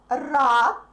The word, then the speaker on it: рад: Since D is a voiced consonant, but since it's in the end of the word, it becomes voiceless. All the voiced consonants become voiceless in the end of the words, okay?